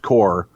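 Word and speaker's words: corps: small drum and bugle core then in parenthesis pronounced core that matches in local parades so he made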